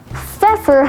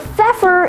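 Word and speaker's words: feoffer: cattle in old english fur now feffer has one alternate pronunciation for a phefer is one that grants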